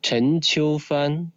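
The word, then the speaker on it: Chen Qiufan: correct Stanley yes perfect now how do you pronounce it in Chinese your Chinese name is Chen Chu fun so you're very close yes you see I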